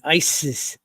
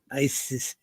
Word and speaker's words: Isis: Isis different names okay asset is the Egyptian pronunciation okay and Isis Isis is how the Greeks pronounce it so we call her